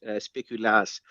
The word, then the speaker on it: speculaas: Yeah, no, it's a Dutch biscuit. It's speculaas, not to be confused with the Belgian speculoos.